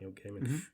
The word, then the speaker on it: Gaiman: Neil Gaiman.